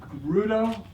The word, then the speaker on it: Fegredo: in Portland and that Duncan I always say his name wrong beg beg beg Gerudo yeah in England they